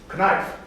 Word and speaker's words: knife: For instance, in English, you write K-N-I-F-E, knife, but it's pronounced as knife.